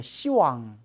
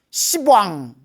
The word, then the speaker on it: 시왕: 시왕 열분의 왕 시왕 원래는 왕인데 발음이 너무 세기 때문에 십왕 욕 같잖아요 이런 십왕 그래서 발음을 낮춰서 왕이라고 부르는 거 그래서 불교에서는 라는 발음이 나오면 발음을 부드럽게 시라고 현하는 그래서 뭐 시방삼세 안 하고 시방삼세 시왕 시왕도 시왕이라고 부르는 거예요 열분의 저승왕 중에 머리에